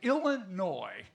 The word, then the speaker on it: Illinois: The gentleman over there is from the great state of Illinois. The S is silent.